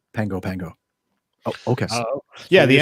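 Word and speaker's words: Pago Pago: It's spelled Pago, but I was corrected right away when I said Pago, and they go, nope, Pango.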